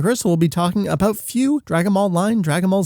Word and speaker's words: Fu: We are in fact talking about Fu, pronouncing it Fu.